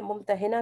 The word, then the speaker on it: ممتحنہ: कराम के मुताबिक यानी हम इसे मुम तहना भी पढ़ सकते हैं जो कि करीब तरीन इसका तलफ्फुज है लेकिन बाज जगह पर